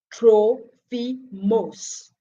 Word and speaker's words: Trophimus: say trophies trophy must worst name is pronounced in greek troll fi moss was a peace who